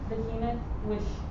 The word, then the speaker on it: Behemoth: Behemoth, behold now, behemoth, which I made with thee.